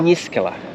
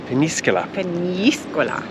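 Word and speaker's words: Peñíscola: Not as some of the Brits pronounce it. No. It's a nya in the middle. Peníscola. Peníscola.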